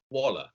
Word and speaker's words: Waller: Did I pronounce that right, Waller? Yeah, Waller. Okay. From the French and German. Waller.